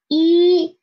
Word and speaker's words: 一: It's just one horizontal and its pronunciation is E. E, it means one in Chinese.